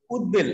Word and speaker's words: উদ্বেল: আমরা যেটা বলছিলাম যে উৎ উপসর্গের সাথে যদি ব ফলা থাকে তাহলে ব এর উচ্চারণটা বজায় থাকে যেমন আমরা বললাম যে উদ্বেল আমরা কি বললাম উদ্বেল